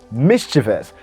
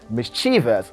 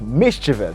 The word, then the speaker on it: mischievous: queen she said mischievous mischievous that's the right pronunciation i do hear many people say mischievous getting the wrong pronunciation now the right pronunciation is mischievous the stress falls at the first syllable mischievous okay mr and